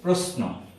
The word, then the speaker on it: প্রশ্ন: তালব্য স, এটি নিচে যুক্ত হয়েছে, যোগ দন্ত ন, এটি দিয়ে একটি শব্দ আমরা লিখব, প্রশ্ন। প্রশ্ন হবে না, এই স-এর উচ্চারণ এস এর মতো হবে, প্রশ্ন।